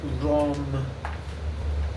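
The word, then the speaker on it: रं: more like more like rom like a u sound almost. Um, you can roll the R if you're comfortable with doing that.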